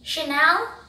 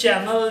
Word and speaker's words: Chanel: next it's very famous French brand tell me Chanel oh how do you know so many a times people mispronounced as channel channel no it's simply shayana move on to